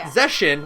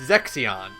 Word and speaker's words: Zexion: is not Zeshin, like I thought. It's Zexion.